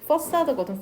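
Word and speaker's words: façade: 스펠링도 이상한 것 같고 퍼사드거든.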